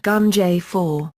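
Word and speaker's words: Ganjifa: shops in the region this was called ganja fur pronounced gum j4 it originated in Persia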